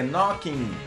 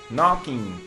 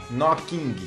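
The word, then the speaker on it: Knockin': aí tá tudo certo e não pronuncie esse G beleza é Knocking Knocking termina no n a pronúncia o g sai fora nada de falar noing ou pior que nocking nada a ver que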